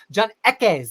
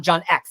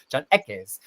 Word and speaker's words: John Ekes: John Ekes. Did I say it right this time? He was giving me pronunciation instruction in the chat. It's not John X. He's not like Professor Xavier. John Ekes.